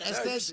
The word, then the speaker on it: Estes: So, am I saying that right, Estes?